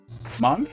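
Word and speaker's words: Hmong: Heidi is monk. Which is spelled H-M-O-N-G, and she does not think me going Among Us is funny at all.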